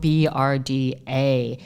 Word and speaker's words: Brda: First of all, it's spelled Brda.